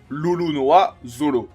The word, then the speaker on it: Roronoa Zoro: Par exemple, Roronoa Zoro se prononce au Japon Lolonoa Zolo.